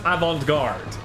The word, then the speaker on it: avant-garde: I know it's pronounced avant-garde.